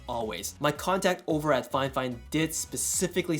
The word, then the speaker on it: Fifine: any good well recently fine fine and yes that is the correct way to say the name of this company reached out to me